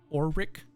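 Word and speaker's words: Orwyck: you can see or Cosworth how do you spell that uh o r w y c k so or Rick or Rick yeah Wyck and then cogsworth c-o-g-s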